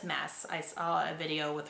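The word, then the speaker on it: Maas: My husband's name is Josh, but, and then her last name is Mass. It's Mass, actually, because I was saying Moss for a while, but it's Mass.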